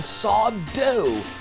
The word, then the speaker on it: Sandor: They call him Saw Dough. No Mr. Accent on the dough.